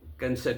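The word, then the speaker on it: Knesset: कई लोग उसको नेसेट बोलते हैं, कोई कैनसेट बोलते हैं। तो मैंने वो उस पर देखा था गूगल में, तो वो कैनसेट ही है, के साइलेंट नहीं है।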